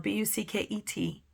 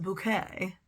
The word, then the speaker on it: Bucket: last name is spelled b u c ke T she's very prim and proper British and she insists that her name is pronounced bouquet but it's really bucket and all the characters